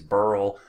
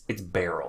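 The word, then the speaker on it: Beryl: a weird name I mean people think it's burl barrel some people are upset that I put the pronunciation key in there it's its barrel it's a weird word a lot of people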